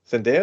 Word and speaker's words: Zendaya: Zendaya? Is that how pronounce her name?